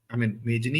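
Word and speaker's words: Mazzini: माता जी का सबसे बड़ा, मेजनी in English is spelled like this, MAZZIN। तो यहां पर तो मेजनी लगता है, इंग्लिश में it will be pronounced eight मेजनी।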